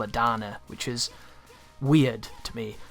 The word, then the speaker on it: Dana: titular Danner even though they don't call her dana they call it Donna which is weird to me I've never heard that name pronounced that way and it's not the most